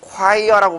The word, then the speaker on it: choir: 내가 choir라고 발음했는데, choir.